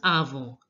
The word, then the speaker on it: avant: Et avant. You all know that an is pronounced as on in French, and t is not pronounced, the last letter. So here it becomes avant.